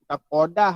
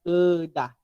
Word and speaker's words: Kedah: Bukan Kodah ya, Kedah. Walaupun dia qaf kan, sebab Kodah ni apa ejaan bahasa Arab, Kodah kan. Jadi Kedah sebenarnya.